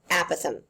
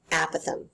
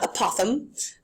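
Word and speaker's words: apothem: write this one down aatham that's how you pronounce it aatham like a Apple so not aoam but aatham is technically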